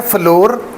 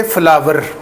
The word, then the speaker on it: flour: फर्श, वो होता है फ्लोर। इसको हम हमेशा पढ़ेंगे फ्लावर, जैसे फूल नहीं होता फूल, तो ये जो आटा है FLOUR ये है फ्लावर, फ्लावर फूल जैसे होता है वही इसकी प्रोनाउंसिएशन है।